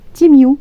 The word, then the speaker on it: Temu: D'où le fait que ça se prononce Timiu, comme l'alphabet anglais.